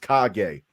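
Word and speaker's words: Kage: actually name your horse cage but it's pronounced kagay yo I am happy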